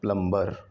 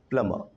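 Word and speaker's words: plumber: देखो, M के बाद जो B आता है वो होता है साइलेंट, तो इट्स नॉट प्लम्बर। और लास्ट में जो R होता है उसको भी ना के बराबर बोलना होता है इंग्लिश में, इट्स प्लमर।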